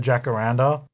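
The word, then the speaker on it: jacaranda: the way I said jackar Randa but we have loads of these in Australia and that's just how we pronounce it here so yeah it's interesting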